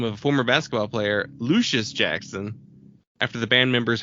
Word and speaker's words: Lucius: of former basketball player Lucius Jackson after the band members heard the announcer on ESPN sports center mispronounced Jackson's first name as luscious and thought it would